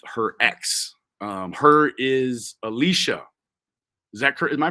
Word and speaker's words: Alisha: oh my gosh Mammy or whatever you actually pronounced my name correctly and it's definitely not Alicia it's Alicia so that was your that was like your